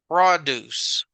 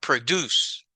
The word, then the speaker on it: produce: This is a noun, and that noun is pronounced produce, the produce.